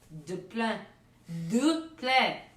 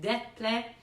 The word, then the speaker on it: Des Plaines: It's French. Des Plaines. There, that's how you really say it. Des Plaines, Illinois, will be making their way onto the Just the Sky Kid show.